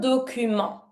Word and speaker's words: document: To send a document, envoyer un document. And don't pronounce the T of document.